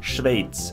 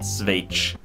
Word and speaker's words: Schweiz: But a lot of Swedes actually pronounce it Swage. So they mix out the positioning of the part and put it at the end instead of in the beginning. So it should be pronounced Schweiz and not Swage.